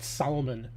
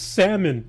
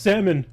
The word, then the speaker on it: salmon: used to call it Solomon because that's how it's spelled. Only as an adult, people like, "It's salmon." I'm like, "Why is there an L in there?" It's pronounced salmon.